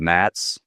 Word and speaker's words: NATS: Uh I wanted to highlight too the Henrik mentioned that the the backbone of the system is running on a technology called MATS that's spelled NATS and why that's important is this